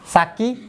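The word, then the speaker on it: 先: এই যে এটার উচ্চারণ দুইটা, একটা হচ্ছে সাকি আর একটা হচ্ছে সেন। তাহলে কি আমাদের দুইটা মুখস্থ রাখতে হবে? হ্যাঁ দুইটাতে একটা কাজ বলেছে। হ্যাঁ হ্যাঁ হ্যাঁ হ্যাঁ, এই কাঞ্জিটার উচ্চারণ দুইটা, সাকি, কখনো কখনো সাকি, কখনো কখনো সেন।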